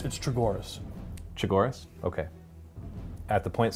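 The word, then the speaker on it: Chogoris: It's Chagoras.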